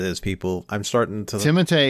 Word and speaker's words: Timothée: Timothée is actually how you say his name correctly. It's not Timothy. It's not Timothy? It's He's Timothy? French. It's Timothée.